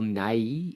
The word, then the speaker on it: Nighy: I do need to point out, he's not saying Bill Nye as in the science guy. I'm saying Bill Nye as in, sorry, Bill Nye. I don't know, like it's spelled Nighy.